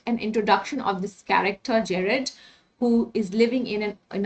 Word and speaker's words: Gerard: Okay, it is Gerard. Okay, you can say it Gerard, Jared, but not Gerard. It's J definitely. We pronounce G as J, so it's Gerard.